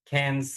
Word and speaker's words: Cairns: and that's the way you pronounce it, right? uh Cairns? can, can cans, yeah.